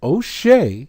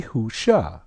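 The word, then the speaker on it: Hoshea: transliteration here also corrupted because instead of O'Shea it should be who sha remember we just trans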